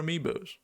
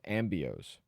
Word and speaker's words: amiibo: 4 amiibos. Yeah. I like that. Or a friend of ours actually pronounced them as ambios.